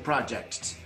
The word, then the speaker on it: Projecttt: to the project the third T is silent and I'm